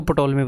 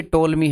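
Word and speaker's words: Ptolemy: पहले मैं आपको पटोल में बता सॉरी ब्रह्मगुप्ता एक्चुअल में पटोलमी नहीं है टोलमी है पी साइलेंट है जैसे साइकोलॉजी में होता है टोलमी में वो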